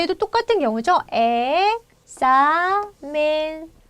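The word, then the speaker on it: examen: 자 얘도 똑같은 경우죠 엑사멘 엑사멘 자 여기에 힘이 와요 제 복수로 만들었을 때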